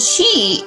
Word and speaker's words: qi: are familiar with and that's called Qi which is spelled Qi and she is a Chinese word